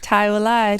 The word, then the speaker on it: ThaiWilai: We officially locked in, and I got a special guest in the building, thaiwilai. Is that how you say it? Am I saying it right? Yes, thaiwilai.